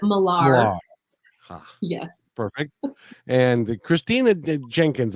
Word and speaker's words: Miller: it's it's very arrogant it should be Miller but we pronounce it malar yes perfect and Christina